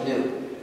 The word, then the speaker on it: gnu: to the dictionary that g is silent and it's pronounced new so every time you